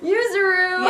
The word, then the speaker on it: Yuzuru: I got her name wrong! Yuzuru.